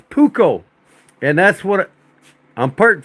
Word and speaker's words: Puukko: It's pronounced Puukko.